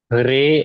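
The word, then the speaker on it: reloj: रे एंड लो रेो एच सर यस सर रेो लो पे stress आएगा रेो रेो इसका मतलब है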